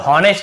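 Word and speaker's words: honest: ह नहीं पढ़ना है ऑनेस्ट बहुत से लोग ऑनेस्ट ऐसे बोल देते हैं तो ये भी गलत है मैं केवल ऑनेस्ट पढ़ना ह को नहीं पढ़ना है यहां भी एचपी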